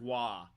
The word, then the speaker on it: Roy: Patrick Waugh is the name of a hockey player. It's spelled Roy.